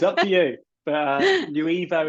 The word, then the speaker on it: Nuevo: But Nuevo is how we see it, like the new evolution of creatives and marketers.